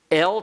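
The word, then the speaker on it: אֶל: El to, al upon. They're spelled differently, they're pronounced differently. El has a segol and an aleph. Al has an ayin and a pathak.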